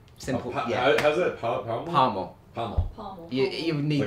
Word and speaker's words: parmo: reason, you get a parmo. Simple. How's that? Palmo? Parmo. Palmo. Pommel. You need Like the a accent. pummeling? You need the accent a bit to say it properly.